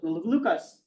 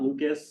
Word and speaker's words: Lucas: pronounce this Luca not Lucas that's an Americanization of the beautiful French name Luca so we have start